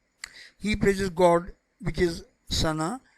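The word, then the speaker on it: ثناء: praises god which is sana i wrote this spelling sanaa because we pronounce it in uh in in this way in urdu sana however generally it is uh spelling is essay sorry t-h-a-n-a i did not write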